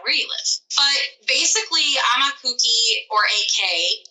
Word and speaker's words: Aumakua-ki: But it's really, and it's the best way to remember how to say it is I'm a cookie. It's AUMAKUA-KI. So it's Aumakhua-ki. But it sounds like you're saying, I'm a cookie.